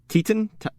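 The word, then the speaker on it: Titane: say it is it it's teeton it's like i it was described to me like you're saying saying it with a bad french accent okay well yeah that's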